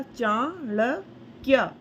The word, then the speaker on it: चाणक्य: तो हमने बोला चाणक्य। ठीक है, तो बहुत छोटा सा हमने प्रोनाउंस किया आधे का को।